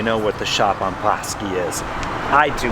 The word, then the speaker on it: Bosque: a big deal yesterday i wasn't sure how to pronounce it it's bossy in case you need to know scratch and dance stuff